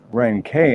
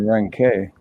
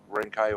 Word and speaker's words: Renke: So then after that, I started saying Renke. Rescue or Roddy. Yeah, no, like Renke or Rank's fine either way. Doesn't matter.